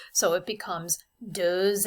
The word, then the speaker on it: deux: And the final question, ça s'écrit, that's written, avec un ou deux S.